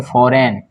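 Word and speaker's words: foreign: इसको पढ़ेंगे फॉरेन, क्या पढ़ेंगे, फॉरेन, एन के पहले जी आया तो जी साइलेंट होगा, ठीक है।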